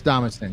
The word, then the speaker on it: Damascene: Yeah, it's Damascene.